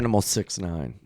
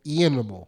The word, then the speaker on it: iAnimal: iAnimal69. Thank you. Dude, the best name. Thank you. Because it is. He says it iAnimal, but it's Eanimal.